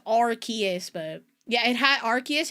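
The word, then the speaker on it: Arceus: To be fair, I'm pretty sure they I I say Arus cuz I'm pretty sure they said they pronounced it Arus in the movie, the Arus movie.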